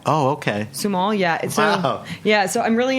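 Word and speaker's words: Sumoll: grape It's s u m o l l sumal oh okay sumal yeah yeah so I'm really into that you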